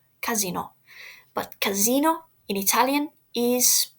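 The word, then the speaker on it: casinò: casino is a casino casino with an accent on the o casino but Casino in Italian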